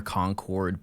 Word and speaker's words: Concord: Um, you guys are going to make fun of the way I pronounce them, but I trust me, it's just where I'm from. Conquered grapes.